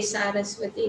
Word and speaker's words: Saraswati: नमस्ते सारस्वती, so we should pronounce it as सारस्वती, not सरस्वती, सारस्वती।